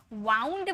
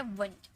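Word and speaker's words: wound: जो ओ यू है, लेकिन इसे वाउंड मत पढ़िएगा, कभी भी इसे वाउंड मत पढ़िएगा, ये है वुंड, वुंड मतलब घाव, इसे वुंड में पढ़ते हैं, ठीक है।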